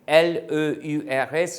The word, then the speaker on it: leurs: Like, nos parents, our parents, vos professeurs, your professors, leur chien, Here, this pronunciation remains the same, L-E-U-R-S, leur, but leur chien becomes, leur chien in plural becomes their dogs.